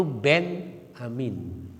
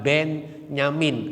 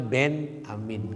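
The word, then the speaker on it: بنيامين: Kalau menurut Ahmad Kainama awalnya itu Ben Amin, ya, bukan Ben Nyamin. Kita mau kebakainya kan ya. Pengucapannya sebetulnya Ben Amin gitu ya.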